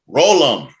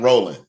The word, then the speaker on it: Rollem: You got to get the pronunciation part right. Rollum, not rolling.